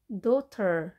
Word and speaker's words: daughter: 딸, daughter 또는 T 발음을 하지, R 발음해서 daughter, daughter. 이때는 GH가 발음이 되지 않습니다.